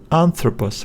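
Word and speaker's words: ἄνθρωπος: vowel and throw post anthropos we need to stress this syllable because of this accent and throw pose anthropos but now as I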